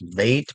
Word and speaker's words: bayt: So it began as vate b a y t or b a i t whichever you choose to